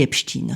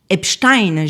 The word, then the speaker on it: Epstein: depuis ses premières accusations, on dit Epstein, son entourage le prononce ainsi, les journalistes américains le prononcent ainsi, les chaînes britanniques le prononcent ainsi, lui-même le prononçait ainsi, le monde entier littéralement finalement le prononce ainsi. La version Epstein germanisée est essentiellement une habitude francophone, sachez-le.